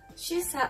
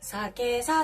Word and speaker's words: 酒さ: これ漢字では酒さって読むんですが、主査って読むんですよ。